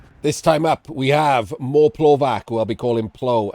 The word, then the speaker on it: Moreplovac: With a TS, like pronunciation? What's the bit at the end? Okay, I knew it was something different. That it wasn't Moreplovac. We don't use a hard C around here.